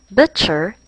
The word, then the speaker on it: butcher: and pouch but touch butcher does not sound like crutch over has the spelling